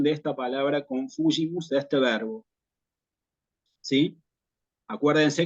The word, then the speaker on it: confugimus: El acento va en la antepenúltima sílaba, confugimus, subtum presidium confugimus, y tenemos la cuestión de la G con la I, que en latín eclesiástico la pronunciamos como G, como ya, ve, igual aquí, como G, confugimus, ¿sí?